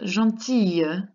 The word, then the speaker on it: gentille: And then gentil becomes gentille with that double L. And you have to make that nice Y sound in certain regions of France.